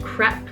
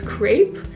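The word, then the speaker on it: crêpe: on all the creps by the way it's pronounced crep in America for some reason I was always taught that it's crepe but it's crep so I can't have any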